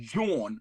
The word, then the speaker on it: jawn: So it's actually it's pronounced Jawn, right?